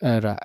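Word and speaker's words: aura: इसको अह यहां पे आर साइलेंट होता है थोड़ा सा। तो एरा एरा यानी विशिष्ट वातावरण या दिव्य ज्योति।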